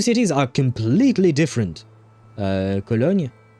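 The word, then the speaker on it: Köln: Uh Colon Oh, Cologne, right? That would be how you say it in English. I think Colon will be would be the German way of saying the name.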